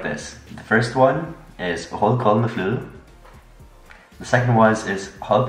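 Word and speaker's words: rødgrød med fløde: It's Hold kold med flue, which means red porridge with whipped cream. Do you know why? No. Because it's difficult to pronounce. It has the U sound. The U.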